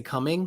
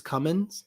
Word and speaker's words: Cummins: great yeah yeah well is there a wrong way of pronouncing that is it you can't say coming it's Cummins yeah got it um Jacob